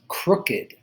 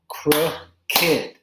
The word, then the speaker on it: crooked: the next word is crooked that has two syllables cro kid so even though it looks similar to watched it's only a two-syllable word but usually in english